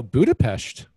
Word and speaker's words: Budapest: I you know, Budapest, which I just pronounced correctly, by the way. And the only reason I know how to pronounce it, like the Pest, is because my the lady that cuts my hair is actually Hungarian.